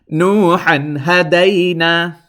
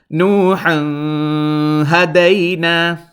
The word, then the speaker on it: نوحا هدينا: Now notice when I'm pronouncing it, I was holding it in my nose, and that is incorrect. Because why? This ha fathatan han has to be pronounced clearly without holding in your nose anything, because this is one